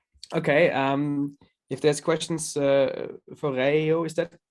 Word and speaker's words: Reijo: If there's questions for Reijo, is that the correct way to pronounce it, by the way? Yes, it's Reijo.